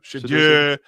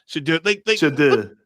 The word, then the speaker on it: Shedeur: Yeah, Shedeur. Shedeur.